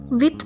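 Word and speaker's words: width: विथ means चौड़ाई, इसमें D silent होगा।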